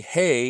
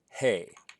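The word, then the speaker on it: ה: on the top left the hay is pronounced as a hard H as in he or her if a hay appears at the end of a word it can serve a different function and that way it's going to be like at the end of the word Sarah and it won't be pronounced at all but that's really a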